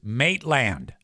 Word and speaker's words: Maitland: You're saying it wrong. Her name is Maitland.